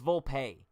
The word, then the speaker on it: Volpe: I'm actually confused as to how to pronounce this dude's last name. Volpe? Volpe. It's Volpe.